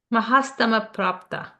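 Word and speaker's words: Mahasthamaprapta: Maha Stava Prata. Mahastama Prapta. That's what I said, right?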